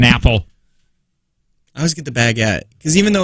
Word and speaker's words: baguette: It's pronounced baguette, yeah, not baguette.